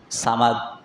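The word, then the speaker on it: صمد: ওই বান্দা সামাদ সামাদ করে। আজকে হঠাৎ করে মুখটা গোল হয়ে উচ্চারণ হয়ে গেছে। সমাদ। সমাদ হল আল্লাহর নাম।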